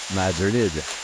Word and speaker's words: Madrid: gym of a town called Madrid pronounced Madrid by locals this enchanting place was